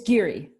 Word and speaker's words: Giere: Am I pronouncing your last name correctly? It's Giere.